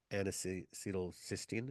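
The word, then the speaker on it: N-acetylcysteine: this area one of them is um NAC anal cysteine is how you pronounce it so look at that up and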